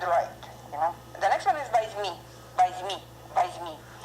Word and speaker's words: возьми: The stress falls on the second syllable. That's why we pronounce the first, the letter O. We pronounce A. Возьми, возьми. Don't say возьми because you will have a strong accent. Okay, возьми. When non-stress position O pronounced as A.